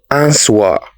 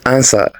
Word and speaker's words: answer: it is Island n the silent letter in this word is w that is why we don't say answer it is answer next this is cool